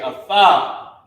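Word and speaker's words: אַתָּה: Instead of it being ah-tha-ha, it's ah-tha because tha and the character ha are connected.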